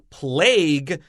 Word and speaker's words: plague: a short e dens plague has a special pronunciation there's no u e sound at the end and then trading bias